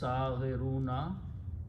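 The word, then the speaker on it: صاغرون: Its plural is saghiruna. When you stop, you pronounce saghirun.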